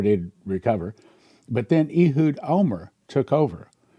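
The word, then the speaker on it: Olmert: But then Ehud Omer took over. And you spell his name Ohlmert, but you pronounce it Omer.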